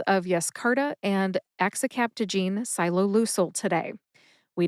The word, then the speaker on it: Yescarta: Yescarta has three syllables. That's yes, as in an affirmative reply, like yes, I like beer and pretzels. The second syllable is car, as in a car is a vehicle you can drive, and ta, like tabasco.